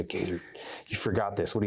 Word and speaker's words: Goeser: You can find me at my full name, JohnGoeser, Gazer, or spelled like Gozer, at Gazer on Twitter.